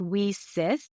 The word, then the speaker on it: WiCyS: spelled w i Ys pronounced we sis like we sisters because that's exactly what